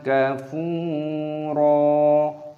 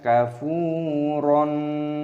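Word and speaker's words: كَفُورًا: ketukan, mad thabi'i, dan di sini ra dibaca sebagai mad iwad. Di sini ada fathah tanwin, ada tanda alif, di sini ada tanda berhenti, waqaf, jadi dibaca sebagai mad iwad. Cara membacanya adalah wa imma kafuro. Bukan kafuron, itu salah.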